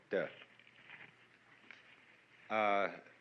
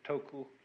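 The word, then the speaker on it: 德: meaning of this word d uh the Japanese pronounce it toku the cantones duck and the northern mandarins approximately du and uh in the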